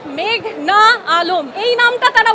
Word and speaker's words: মেঘনা আলম: না পাসওয়ার্ড আদালতে এসে শুনি পিপি বলছেন মেঘলা আলম আমার নাম মেঘনা আলম এই নামটা তারা উচ্চারণ